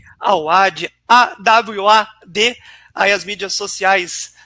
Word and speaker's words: Awad: Também convidar a todos, @Tomás_, como é que se pronuncia para não errar aqui? Awad. Awad, AWAD, aí as mídias sociais do nosso querido